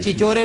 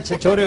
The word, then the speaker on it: چھچورے: یہ چار چچورے ایک لفظ بھی نہیں بولیں گے۔ اچھا، چچورے نہیں ہوتا، چھچورے ہوتا ہے۔ یا خدا، کابل میں بھی تلفظ ٹھیک کرواؤ گے؟